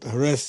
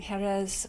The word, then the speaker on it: Jerez: There's no J, like Jose. It's not Like Jose. Jose, exactly. Jerez, Yeah. Jerez, Jerez. Yes. And they say it like a TH on the end instead of the Yeah.